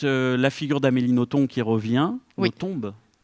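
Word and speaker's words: Nothomb: Et ensuite la figure d'Amélioton qui revient, Notombe. Oui. Oui. On prononce à la belge.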